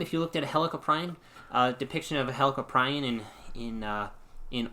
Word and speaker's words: Helicoprion: It's a type of cartilaginous fish similar to sharks called I say Helicoprion. It could be Helicoprion, it could be Helicoprion, or it could be Helicoprion. Helicoprion it is.